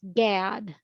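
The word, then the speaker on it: GAAD: christina correct me if i'm wrong but it's pronounced gad right is as the acronym thank you and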